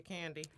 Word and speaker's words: Kandi: CA in di and I need to spell it out for y'all cause y'all always spending my name with a why and then it's like King like cocaine because I'm like dope so it was like candy cane see a nd